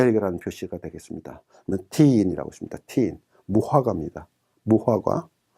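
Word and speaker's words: تين: 티인. 무화과입니다. 무화과. 그 다음에 F 발음에 이가 있고 그 다음에 야가 있기 때문에 피, 전치사 인에 해당합니다.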